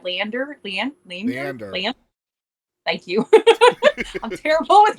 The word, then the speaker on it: Leander: Leander.